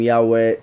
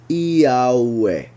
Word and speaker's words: Yahweh: and I will pronounce, like, it will be closer to the Spanish pronunciation of the vowels, just in case. Yahweh. Yahweh.